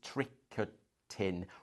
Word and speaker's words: tricotin: Um The other one that to use is the French word for knitting, which is tricotin, which is I'll spell it t r i c o t i n.